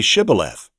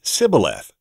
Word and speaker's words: shibboleth: they would tell them then say shibboleth but he would say sibileth because he couldn't pronounce it correctly so they would seize